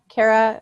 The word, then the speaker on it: Kira: Am I saying your name wrong? Kara, how do you say your name? Kira. Oh, I was getting it right.